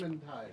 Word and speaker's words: Vermintide: You just Vermintide. Vermintide. Vermintide. Yep. Ed is unsure of our pronunciation.